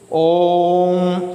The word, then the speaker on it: ओम: ओम ऐसे करेंगे ना। ओ जो है, ओ के ऊपर ज़्यादा जोर पड़ रहा है, ज़्यादा समय लग रहा है ओ के उच्चारण में, इसलिए यह जो है प्लुत स्वर है।